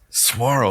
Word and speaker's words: saguaro: is the word is saguaro pronounced with a w not a g ah there you go saguaro of course tomorrow yes